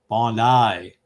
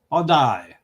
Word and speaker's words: Bondi: There's a knock at the door, but Bondi is pronounced with a long I. Oh, Bondi. Bondi.